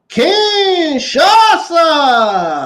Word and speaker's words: Kinshasa: Now, the artist bulked in the face of Ludwig Kaiser at ringside is set up for the Kinshasa.